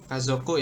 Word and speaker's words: 家族: Kazoku ya. Itu bacanya kazoku.